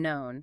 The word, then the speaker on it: known: It is and known. Silent K sounds like the own and phone or grown.